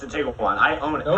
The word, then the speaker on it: Tiguan: You don't pronounce the U. It's a Tiguan.